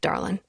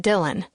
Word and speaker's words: Dylan: My family and friends have this habit of saying my name in a way that sounds like Darlin instead of Dylan.